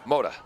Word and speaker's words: Moda: Is it Moda or Mota? Moda. It's Moda.